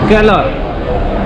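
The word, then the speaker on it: colour: कलर R silent होता है इसमें, ये भी मुझे कल पता चला है कि R साइलेंट होता है। और इंडोनेशिया में भी यही कलर बोलते हैं लेकिन वो R बोलते हैं, वो ऐसे बोलते हैं कलर।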